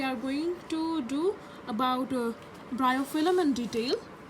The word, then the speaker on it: Bryophyllum: Please listen to the pronunciation. Bryophyllum. Bryophyllum.